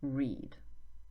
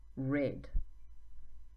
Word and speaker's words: read: But the way we pronounce it is different. So in the infinitive form, read. I read books. I always read books. In the past form, read. So same spelling but different pronunciation.